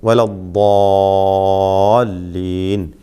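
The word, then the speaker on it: الضالين: വലദ്ദാലീൻ.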